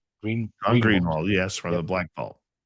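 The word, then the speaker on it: Greenewald: Greenwald? Greenwald, yes, from the Black Vault.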